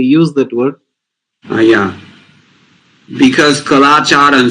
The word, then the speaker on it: கலாச்சாரம்: Kalacharam? Yeah, culture. Kalacharam.